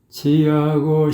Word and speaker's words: 취: 아주 이런 부분이 음정 박자 그리고 이제 그 발음인데 이게 취 발음이 어려워요. 취 자칫하면 치가 되기 쉬워요. 치가. 취. 입을 많이 움직여줘야 되거든요.